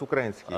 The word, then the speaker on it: украинские: А, то есть у вас украинские корни, получается? Ну, да, вот украинские... Украинские, правильно говорить. Украинские. Украинские корни по линии деда и, скажем, наверное, такие белорусско-польские со стороны бабушки.